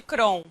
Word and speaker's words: Crohn: é um prazer imenso tá aqui o a pronúncia correta Doença de Crohn Ok é uma doença que ela envolve todo